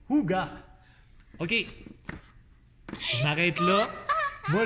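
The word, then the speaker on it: hygge: Le livre du Higi, non, prononcé Huga.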